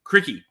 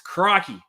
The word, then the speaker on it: crikey: he put crikey in there and you actually pronounced it cricky which is which is how you read it which is phonetic because it's fair enough so it's crikey now for those of you who know of